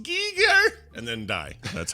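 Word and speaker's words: Giger: And he'd say, it is pronounced Geiger, and then die.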